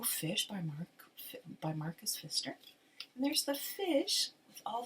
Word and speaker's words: Pfister: the name of marcus fister so it's p f i s t e r but the p is silent english is such a